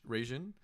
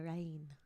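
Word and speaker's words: Reijn: I think it's probably pronounced Helena Rain. Rain. Okay, Helena Rain.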